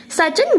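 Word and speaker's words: Siachen: The largest one in India being the सचन, इसे हम कैसे प्रोनाउंस करते हैं? सचन ग्लेशियर, ठीक है।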